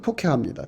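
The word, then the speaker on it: תוכחה: 책망을 안 들으면 안 되는데 이 책망은 토케하거든요. 토케하. 토카이하우라고도 하고요. 음력은 케이하우라고도 하고요. 발음은 토케하입니다.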